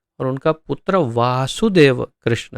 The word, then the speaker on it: कृष्ण: और श और ण है, न नहीं है। तो कृष्णा नहीं है, कृष्ण है, कृष्ण। तो कृष्ण ये उसका वास्तविक उच्चारण है।